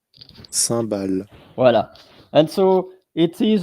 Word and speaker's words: cymbales: um that's interesting so here you have the pronunciation of sambal here sambal sambal vo and so it is a music instrument